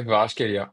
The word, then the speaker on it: Kvaratskhelia: Je dis Gvara parce que j'ai du mal à le prononcer intégralement. C'est Gvara, c'est ça? Ouais, c'est ça, Kvaratskhelia.